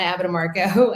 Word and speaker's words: Abbatemarco: So I'm Abbatemarco, and I'm a team leader and listing specialist